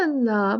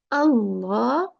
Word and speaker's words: Allah: you know in uh normally when we talk in our everyday talk like Allah or something we can say Allah but Allah is the right pronunciation when we recite the Quran and this is not